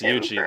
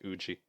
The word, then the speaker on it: Yuji: So it's pronounced Yuji. That's good to know. Huh? I didn't know it was pronounced Yuji. I was always calling it Uji.